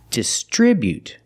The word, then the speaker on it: distribute: Putting the stress on the second syllable. Distribute. We see the buu together making the sound bu not but distribute.